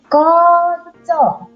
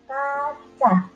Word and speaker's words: kaca: Koco, membacanya tidak kaca, tetapi koco.